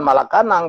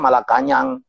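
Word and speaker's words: Malacañang: Jadi saya pikir itu adalah istana di Filipina itu bukan Malacanang, bacanya Malakanyang.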